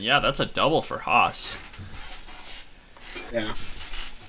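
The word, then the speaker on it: Haase: Oh, it's Haas. Okay, Eric Haas. So it's not Hayes, which is the way I was pronouncing it.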